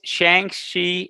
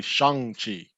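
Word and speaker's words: Shang-Chi: found the proper pronunciation it's actually shang even though it's with an a it sounds like it's spelled with a u but it's actually shangchi okay all right that's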